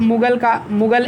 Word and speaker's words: Mughal: ऑफ मुगल एज, मुगल की spelling MUGHAL रहेगा, मुगल, लेकिन घा पढ़ा नहीं जाता अंग्रेजी में, हिंदी में लिखा